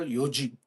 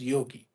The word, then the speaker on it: yogi: So you can also some people call yoji but generally in English in India we call it as yogi.